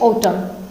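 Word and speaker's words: autumn: अब चलिए आगे बढ़े, आगे देखेंगे हम साइलेंट एन जिन वर्ड्स में रहता है, जैसे ऑटम, ठीक है, एन साइलेंट हो गया, ऑटम बोला यानी मौसम होता है।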